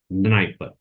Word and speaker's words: Dnieper: And the rivers which enters into Black Sea are Don, Danube, Dniester, and Dnieper. D is silent, Dnieper.